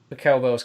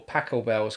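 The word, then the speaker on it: Pachelbel: loads of musicians playing pel Bell's Cannon uh or pacle Bell's Cannon depending on how you pronounce it uh you know the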